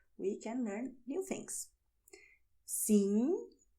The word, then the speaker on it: sim: Sim, não. Both are very nasal, okay? Sim, não.